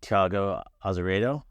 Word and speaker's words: Thiago Azeredo: We're here with Thiago Azeredo, right?